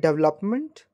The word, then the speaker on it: development: how do you pronounce do you call it development yes most of the people used to say development but I just want to tell you that it is wrong pronunciation the correct pronunciation of this word will be development it will be development